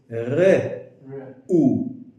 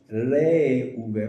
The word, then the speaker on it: Reuven: Okay, so actually in English it's R-E-U, but in Hebrew the E is very, very short. Re-u-ven. So it's not Re-u-ven, but it's Re-u-ven.